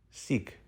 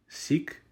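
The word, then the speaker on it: сік: this word letter by letter s e Ka Sikh seek is the Ukrainian word for Jews seek the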